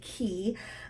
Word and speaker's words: Quay: it's qu a Y it looks like clay but it's actually pronounced key and they come in